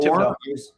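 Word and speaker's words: Thibodeaux: Thibodeau. Obviously, I can't Thibodeau. have The H is silent.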